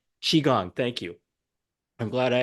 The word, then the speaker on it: Qigong: How do you pronounce that? Qigong. Qigong.